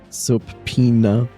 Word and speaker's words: subpoena: Subpoena. It's the pronunciation of subpoena.